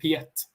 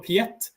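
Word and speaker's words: Piet: it you can google for a language called piatt which is one of my favorites you google for piatt and esoteric language how do you spell that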